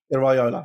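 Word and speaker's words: Iraola: going to putcher his name how do you pronounce his name correctly andon Iola Iola right yeah yeah yeah I thought it was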